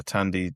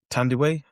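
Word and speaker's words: Thandiwe: Tandee Newton. Tandiway. Have I been saying it wrong all those years? Tandy Newton is she changed it. Yeah. To Tandy Way in the last five 10 years or something.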